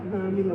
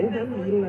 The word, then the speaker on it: Ramila: Eu chamo Ramila, mas é Ramila, né? A pronúncia Ramila, você chamei Ramila.